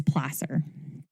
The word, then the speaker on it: placer: been above ground or it's called Placer mining it's spelled like Placer but it's Placer short a not long a with behringer's discovery of